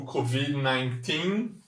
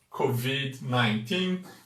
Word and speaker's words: COVID: Próximo vocábulo que vimos hoje foi o COVID-19. COVID-19, muito parecido com o português, apenas o D é mudo em inglês, não é Covid, é Covid, Covid com D mudo, e o número 19 que é 19, COVID-19.